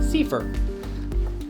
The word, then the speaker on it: CFIR: And it's called the Consolidated Framework for Implementation Research, or pronounced Ding! CEE FUR.